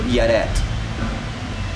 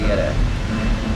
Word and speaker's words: Yaret: How do you say her name? Yaret. Okay. It could be Elena, but she doesn't want the easy part. She wants you to say Yaret.